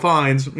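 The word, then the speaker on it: Fiennes: did he talked about Tom Lord Voldemort Ralph Fines he said it in the video he said fines it was in the first video for Ralph Fines pronunciation Wow.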